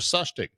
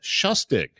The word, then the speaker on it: Soechtig: However, last Thursday I had an opportunity to sit down and talk with Kendra Sustic. Uh Kendra Shustik. There we go.